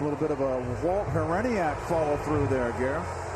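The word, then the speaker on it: Hriniak: A little bit of a Walt Hereniak follow through there, Gary. Whether or not you pronounce the H, yeah.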